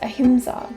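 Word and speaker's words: अहिंसा: tattoo on my right arm the word is pronounced ahimsa so ahimsa is one of the five yamas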